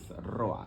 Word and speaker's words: Roa: and uh my last name is Roa that's Roa that's that's the when I used to assign